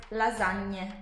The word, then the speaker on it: lasagne: Like lasagne. Lasagne. Okay. I'll write the example. La. Za. Ny. Ny. The tongue is pushing upward. Ny. Pushing the ceiling of your mouth. Yeah. And you have to read every letter and every vowels. There are no cases where you don't read the letters or vowels or anything. Like la za nie. You read the e.